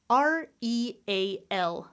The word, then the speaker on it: real: It could sound like real. Look how I had 2 syllables and I was stressing the first one. Or maybe it's just 1 syllable. Real. There's no schwa in there. Me, I do the first one, but both are acceptable.